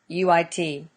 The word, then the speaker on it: Jaluit: I don't know how to pronounce that. It's Jaluit.